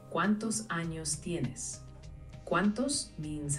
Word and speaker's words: tienes: It's tienes with a T. So it sounds like T-Y-E-N-E-S.